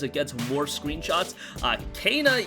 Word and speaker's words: Kena: gets more screenshots uh cana yes kana bridge of spirits gets a relatively in-depth look on game informer that's how they said her name is pronounced so we're gonna go